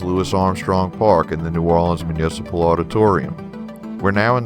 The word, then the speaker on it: New Orleans: when saying the name of the city it's New Orleans not New Orleans not N'awlins and locals typically don't use NOLA unless it's